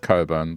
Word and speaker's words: Cockburn: Like spelling something cockburn, but then it's pronounced coburn.